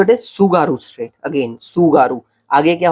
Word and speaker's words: Tsugaru: तो इट इज सुगारू state. Again सुगारू, आगे क्या होगा? टी होगा। तो देख ले, ऐसा स्पेलिंग है, ठीक है, TSUGARU, सुगारू स्टेट।